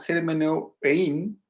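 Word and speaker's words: ἑρμηνεύειν: Que si lo hablamos en español, tendríamos que pronunciarlo como hermeneuein, ¿ya?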